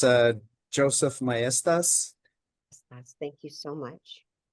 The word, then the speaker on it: Mestas: Moving on, our next uh speaker, we welcome Joseph Masta, state auditor of New Mexico for some special remarks.